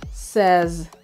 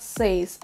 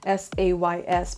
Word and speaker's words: says: word it should be says says okay it's with the letter z in the end it's not an s it's not says i know it's spelled s-a-y-s but it's pronounced as